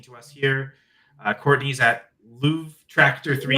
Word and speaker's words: luvtractor3: I say it like that so people know how to spell it, even though it probably doesn't help with the spelling.